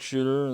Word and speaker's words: Shuter: who you you live my name is shooter the last name is spelled s Shu t r i live at 720